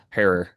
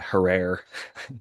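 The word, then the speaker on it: Jack Herer: is some Jack Jack her. Sorry, I always mispronounce it. They say her like terror, but it's a lot of people call it herrer incorrectly and I always get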